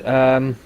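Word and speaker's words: Rhône: Rhone has a it's an actual place. Rhone. Apparently I pronounced it right.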